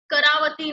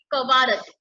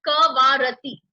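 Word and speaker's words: कवरत्ती: एंड कवारती जो है students, करावती नहीं, कुछ नहीं, इट इज कवारती. इसमें भी बहुत मिसप्रोनाउंसिएशन होता है, इट इज कवारती.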